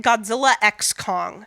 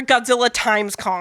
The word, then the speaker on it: Godzilla x Kong: title of this movie I just say it Godzilla X Kong the new or Godzilla times Kong it's Godzilla the letter X and Kong which makes it sound